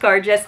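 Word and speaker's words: cairdeas: The theme of Cargis, the Gaelic word for friendship and pronounced Cargis, runs through this curation.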